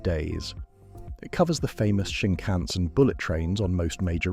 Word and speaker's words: Shinkansen: The word Shinkansen is said Shinkansen, with the emphasis on the middle syllable.